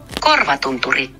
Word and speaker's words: Korvatunturi: the pronunciation because it looks like it says Corva Tunturi, but I don't want to mess that up. Corva Tunturi. Corva Tunturi. Almost had it. Korvatunturi. What does that mean? You know, with the pronunciation, they should have what it means.